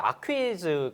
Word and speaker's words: Aquis: 이제 에커스가 이제 스펠링이 보면 AQUIS예요. 맞아요. 그래서 이제 지금 많이 통용되는 건 이제 에커스인데 이제 정확히 사실 발음 자체는 이제 아퀴즈 거예요.